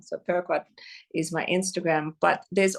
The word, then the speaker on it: Peruquois: find me on Instagram, Peruquois, and it's spelled like Peru, the country, and Kwa like Iroquois Indian. It's like a French spelling. So Peruquois is my Instagram.